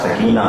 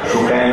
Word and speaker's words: سکینہ: دوہرا دیجیے گا کہ تلفظ سکینہ کا سکینہ ہے، سکینہ نہیں.